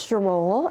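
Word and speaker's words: Sharole: can I come in please my name is Sho s h a r o l e spelled like the angel I do a lot of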